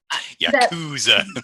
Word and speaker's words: Yakuza: I put the emphasis on the wrong syllable. Yakuza. My favorite ensembles are those that at first glance seem quite simple.